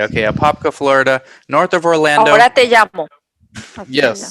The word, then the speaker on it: Apopka: mispronounce the name uh why don't you marjorie pronounce the city that you guys are in we are in apopka florida which is north of orlando that's not that hard that's not that hard to say okay apopka florida north of orlando yes so basically uh